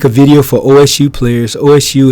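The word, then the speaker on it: osu!: If you're going to make a video for OSU players, OSU is commonly pronounced OSU. Thank you for that. I always say OSU, OSU.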